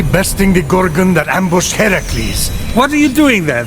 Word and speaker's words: Heracles: So, Fenyx, after boldly besting the Gorgon that ambushed Heracles...